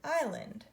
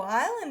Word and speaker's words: island: land surrounded by water island I is Lind do we hear this s no island is a funny word because you hear I land but that's a very